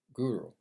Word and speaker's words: guru: The Guru. Let me say it with the accent because it's the way it's supposed to be pronounced. Because anytime somebody says it with an American, it just butchers the word.